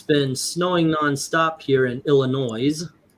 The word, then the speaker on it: Illinois: It's been snowing nonstop here in Illinois. By the way, that is the proper way of saying it. You guys in Chicago have been saying it wrong forever.